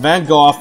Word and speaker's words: Van Gogh: And yes, it's pronounced Van Gogh, not Van Gogh. He was Dutch.